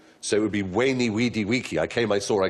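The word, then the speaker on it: veni, vidi, vici: swiss wine called vine when i was taught latin we were taught to pronounce the v as a w so it would be wayney weedy wiki i came i saw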